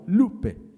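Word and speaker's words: λύπη: de alguna hermana que es Lupe de hecho lleva acento en la Lupe y significa dolor profundo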